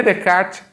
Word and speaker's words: Descartes: um filósofo chamado rené de kate embora se inscreva descartes em francesa o s não se pronuncia portanto a pronúncia correta renner the cat é de kate é o pai da